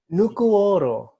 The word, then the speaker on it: Nukuoro: How do you say how do you pronounce the name of this work? Nukuoro.